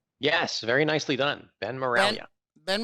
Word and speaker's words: Miraglia: Did I say Ben Miraglia? Yes, very nicely done. Ben Miraglia. Ben Miraglia. The G is silent.